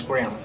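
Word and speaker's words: Graem: Well, it was spelled G-R-A-E-M, and the way you pronounce it's Grimm.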